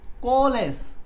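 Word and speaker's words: coalesce: উচ্চারণ হচ্ছে এই যে কো আয়ের উচ্চারণটা লাগবে না, এটা ছোট করে উচ্চারণ করতে হবে। কোলেস মানে হচ্ছে এই এর উচ্চারণটা ছোট করে বলতে হবে, না বললেও হবে।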